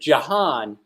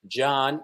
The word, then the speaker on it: John: you adopted stepfather that Jahan is not a name okay it's John and the H is silent and I refuse I